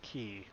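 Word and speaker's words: Quay: a dry docks and yes that is apparently pronounced key I checked this last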